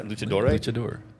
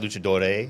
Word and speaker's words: luchador: Yeah, luchador. Luchador. Luchador. Is it not luchadore? Luchador.